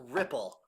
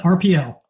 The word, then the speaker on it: RPL: It's RPL is pronounced Ripple. We call it RPL.